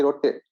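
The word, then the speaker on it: ರೊಟ್ಟಿ: He said no, it's not roti, it's ragi rotte. I said oh, roti and roti. He said no, it's not roti, it's rotte.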